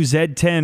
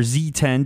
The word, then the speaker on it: Z10: a lot from the new zed10 or Z10 depending on where you are regionally how you want to pronounce that because it has the